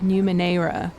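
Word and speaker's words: Numenera: watching this okay look I realized that I've been pronouncing the name of this game wrong it's tides of new Monera I think should be how it said I did notice that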